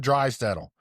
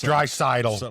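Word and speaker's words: Draisaitl: Okay, we got Leon Dry settle dry saddle cidle. It's dryidal, but I keep saying it wrong.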